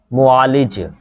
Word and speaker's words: मुआलिज: मुआलिज, मुआलिज, meme के ऊपर पेश है, फिर आइन के ऊपर ज़बर है, फिर उसके बाद ये लाम के नीचे जो है ना ज़ेर है, मुआलिज।